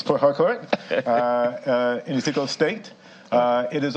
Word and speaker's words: Port Harcourt: I'm trying to get good on my pronunciation because I understand I put a bit more emphasis on the R than most do here. It's Port Harcourt in Ezekiel State.